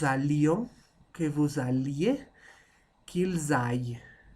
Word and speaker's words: aillent: Que j'aille, que tu ailles, qu'il aille, que nous allions, que vous alliez, qu'ils aillent. ENT, on ne prononce pas.